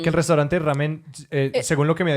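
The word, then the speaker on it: ラーメン: Entonces, y una de esas cosas era el fideo, en que en pronunciación japonesa ya no es lamian, sino ramen.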